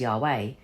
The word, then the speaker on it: Yahweh: The tetetrogrammatan, the Hebrew name of God, written yod vahhee, inscribed into the Latin alphabet Yhv, and pronounced as yod vahhee or as yahweh is composed of four sacred letters each relating to a different aspect of deity.